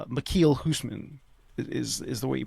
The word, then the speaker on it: Michiel Huisman: Uh So his I always remember how to pronounce his name. It's it's Michiel Huisman is is the way you pronounce his name.